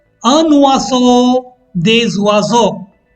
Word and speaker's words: oiseaux: Un oiseau, des oiseaux. Again, the x is silent.